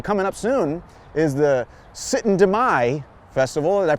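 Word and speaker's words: Syttende mai: interesting because actually coming up soon is the sit and deay Festival did I pronounce that right rob you got it thank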